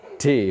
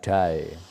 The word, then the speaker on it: day: Contoh, ketika aku bilang every day, day ini diucapkan day, bukan die. Ini die, ini day.